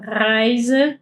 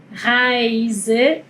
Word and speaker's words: Reise: Acá la S en español se suele pronunciar con un sonido de S. Pero en alemán este sonido es más como una Z, así como un sonido de abeja. Zzz. Así es el sonido de la S.